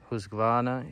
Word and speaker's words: Husqvarna: quite a few nice extras being husky uh Husqvarna if you want to try and pronounce it properly and out absolutely destroy it